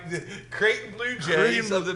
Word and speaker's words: Creighton: Cretan. All right, the Creighton Blue Jays Creighton- of the Big East yeah.